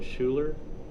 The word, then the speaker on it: Schuler: all right thank you uh City versus Schuler did I pronounce that correctly yes thank you and Miss